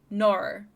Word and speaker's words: nor: So you say nor.